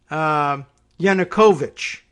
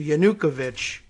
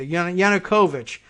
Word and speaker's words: Yanukovych: or that we in English are meant to pronounce it as Yanukovych, as opposed to Yanukovych, which is the pronunciation I was giving it. So Yanukovych, I guess, sounds like the people who know